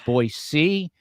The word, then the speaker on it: Boise: defense attorney out of boisey Idaho pronounced with an S not a z like a lot of New Yorkers say boy uh but I was told to say boy C so that's how I